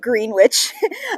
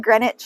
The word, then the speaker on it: Greenwich: greenwich mean time and greenwich i've written for you here is actually this word which looks like green witch uh you can pronounce it greenwich is usually how it's pronounced and it is in